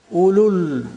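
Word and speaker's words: أولو: Ulul arham, ulul albab, the waw is not pronounced.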